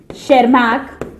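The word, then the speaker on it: Erich von Tschermak-Seysenegg: And last but नॉट the least, नाम बहुत लंबा है, एरिक वॉन शेरमैक, इसमें टी साइलेंट है students, session egg, session egg.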